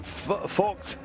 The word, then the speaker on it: Vogt: Olaf Ludwig Vegeby, Vogt. I always stumble over his name, but that's the pronunciation.